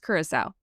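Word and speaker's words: Curaçao: those like stocks that is made it's a kurasa um and it looks it's a they spell that c u r a c a o but apparently it's it's pronounced kurasa that that's what the the internet says um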